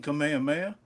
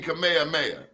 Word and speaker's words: Kamehameha: Since you are in New York out there in Hawaii, can you pronounce his name? King Kamehameha. Yeah, y'all all need to know King Kamehameha.